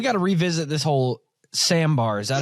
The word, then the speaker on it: sambar: you'd say Sader um as in the style of dance but there's actually an r at the end so it's s a